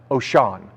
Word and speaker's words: Wouxun: There is a company that's called, it's a Japanese or Chinese company, Chinese company called, it's spelled Wouxun, but it's actually pronounced Oshan.